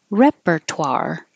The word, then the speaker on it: repertoire: And repertoire. Repertoire. That is unusual combination, toire.